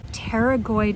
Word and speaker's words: pterygoid: So this is called Pterygoid Massage, and pterygoid is spelled with a P, like pterodactyl. And the pterygoid muscle connects on the inside of our jaw.